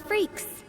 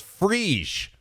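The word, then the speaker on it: Freecss: You must be Gon Freaks. Freaks? Freaks. Is that how you pronounce it? I think it was Freesh. I thought. I mean, that's what they said in the Japanese dub.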